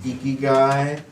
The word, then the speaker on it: Ikigai: It's actually pronounced Ikigai.